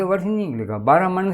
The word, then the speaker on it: ब्राह्मण: अब ब्राह्मण को अगर आप ब्राह्मण बोल दोगे, बामण बोल दोगे, तो बामण से वर्ष नहीं निकलेगा, ब्राह्मण से वर्ष नहीं निकलेगा, ब्राह्मण से वर्ष नहीं निकलेगा।